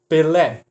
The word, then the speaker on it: Pelé: Se eu movo essa sílaba tônica da última, que é o nome do jogador de futebol, para a penúltima, eu já mudo a palavra também, ó. Pele. Pele macia. Tá. Pele não acentua.